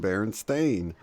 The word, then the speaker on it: Berenstain: this long conversation but if it's always been Berenstain so yes you know that's not a memory